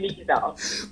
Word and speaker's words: Leiza: Everybody pronounces it as Leiza. It's actually spelled that way. Yes. But it's actually Leiza.